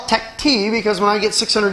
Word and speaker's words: TechT: great all right so let's talk about the tech T BT now I know it's pronounced Tech but I call it Tech te because when I get 600 emails I like